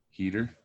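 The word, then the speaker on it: Heder: Heater.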